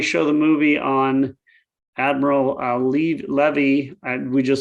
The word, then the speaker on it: Levy: Also, when we show the movie on Admiral Levee, I just learned recently it's pronounced Levy in his case.